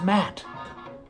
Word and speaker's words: Matt: right monty and aj it's matt it's very simple it's like a doormat it's pronounced the same way okay guys we have